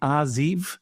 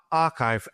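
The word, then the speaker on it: arXiv: been put in the is it the ariv is that how you pronounce it so so archive a rxiv now this is well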